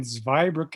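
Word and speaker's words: Zweibrücken: grew up in i i was born in zveybrook in germany survived brooklyn has two bridges it's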